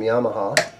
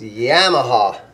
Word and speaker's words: Yamaha: I think the proper pronunciation of Yamaha, I know all Americans call them Yamaha, but I think it's supposed to be pronounced Yamaha.